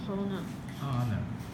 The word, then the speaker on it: honor: After Dickens returned from America, a big dinner was given in his honor. honor H 不发音 Honor.